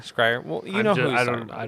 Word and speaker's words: Schreier: It's pronounced Scryer. Scryer.